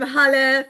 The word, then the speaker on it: Halle: I'm Halle, pronounced like hallelujah.